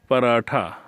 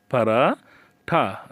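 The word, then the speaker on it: पराठा: হিন্দিতে বলা হয়ে থাকে পারাঠা পারাঠা আমরা ট উচ্চারণ করি তারা ঠ উচ্চারণ করে আলু আলুকে হিন্দিতে আলুই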